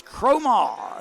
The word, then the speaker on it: Cromar: butchered you think guys I normally get it right because I've been calling it for years and it's cromar who gets it over the